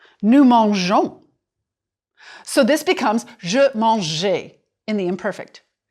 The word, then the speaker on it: mangeais: So this becomes je mangeais in the imperfect. Because you're adding A-I-S, you keep the E to preserve the soft G sound.